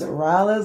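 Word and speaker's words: Rhyla: This is the kitty octopus, Rylo's name. You see all that? And her name is spelled R-H-Y-L-A. Rylo. Yep.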